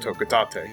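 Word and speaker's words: Hocotate: They're not from planet Hokotate, and I learned that yes, it is pronounced Hokotate.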